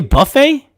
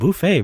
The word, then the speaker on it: buffet: this a little bit off-topic but you say Buffy yeah buffet that's how it's pronounced it's Buffay bruh you're an embarrassment okay let me ask